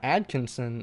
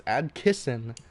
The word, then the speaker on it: Adkison: Cory Adkins to Adkison it's not Adkinson no it's Adkison I don't that's a